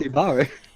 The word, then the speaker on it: Subaru: It's the correct way to pronounce it, people. It's in the dub. It's official. Subaru.